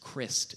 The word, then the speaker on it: Crist: Crist is how you pronounce my last name. Telemarketers like would always call the house. They'd be like, "Is Mr. Christ there?"